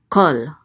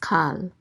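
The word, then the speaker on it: כֹּל: So this is kol. Kol means all. Okay, so this word will never be pronounced kal. It will always be pronounced kol.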